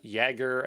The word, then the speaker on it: Jaeger: fluentd harbor helm uh jaeger i think it's pronounced jagger like the j's the y uh kubernetes linker d